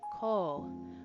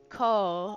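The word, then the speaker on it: 口: And we learned that mouth is pronounced co with a U extending the O. So it's a radical mouth. That's funny, Mina. Um, so since it's uh co with a U extending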